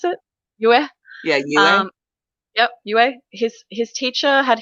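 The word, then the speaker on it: Yueh: Yue, is that how you pronounce it? Yue? Yeah, Yue.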